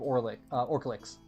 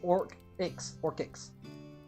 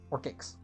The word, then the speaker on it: Orklix: like directly north of Orklix. Actually, it's Orklix. It's Orklix. Orklix. I can't say without putting the L in. Orkix. The L is silent. Orkix.